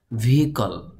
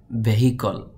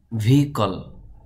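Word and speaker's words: vehicle: বা মামা আমব্রেলা ছাতা ভিকল আমরা অনেকে বলি ভেহিল ভেহিল বললে হবে না শব্দটির সঠিক উচ্চারণ হবে ভিকল যানবাহন ভেরিফিকেশন সত্যতা যাচাই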